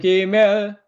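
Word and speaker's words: גימל: 알렙 베트 기멜, 그죠? 기역 발음이었습니다.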